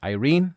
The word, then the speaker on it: Irene: But if you're trying to say it in the English pronunciation, many people would refer to her as Irene.